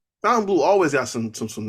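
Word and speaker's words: Fontainebleau: uh it's it apparently it's pronounced fountain blue but it's spelled Fontaine Blue so that's what I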